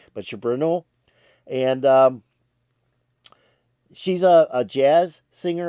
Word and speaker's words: Ceberano: I guess it's pronounced different ways. They have it differently in Wikipedia, several different ways. But Ceberano, and she's a jazz singer, a soul singer, a pop singer.